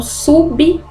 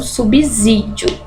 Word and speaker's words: subsídio: sequência é S II qual que é o som de s í ci né então subsídio e não subsídio tá errado a pronúncia desta palavra com som de z outro exemplo aqui é